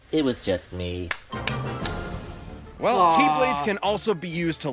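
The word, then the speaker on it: χ-blade: He's also survived this huge explosion from when the Keyblade was destroyed. Yeah, he means the X-Blade. It's just pronounced like Keyblade, even though it's just one Keyblade.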